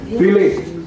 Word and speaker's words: Vielleicht: Vielleicht. F. Philippe. V is pronounced like an F.